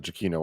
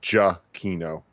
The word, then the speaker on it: Giacchino: I think it's just Giacchino. Giacchino. Like J-U-H.